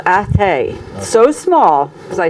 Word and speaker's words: Athea: and I said, "My father's from Athay," and they'd say, "Oh, you mean Athy?" Athy in County Kildare. And I said, "No, Athay. No, you mean Athy." They thought I was mispronouncing it. I'm like, "No, Athay, Athea, County Limerick.